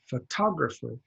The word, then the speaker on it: photography: it's on the second photographer photography and this really isn't on it's not an oh it's an AH okay that's how that